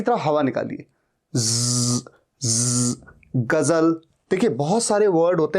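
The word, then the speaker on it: ग़ज़ल: कभी भी देखिएगा, गजल में ज के नीचे बिंदु होता है। ऐसा नहीं होगा कि बिंदु नहीं होगा। ये गजल नहीं है, गजल, गजल नहीं, गजल, गजल, गजल। और इसीलिए स्पेलिंग में Z होता है।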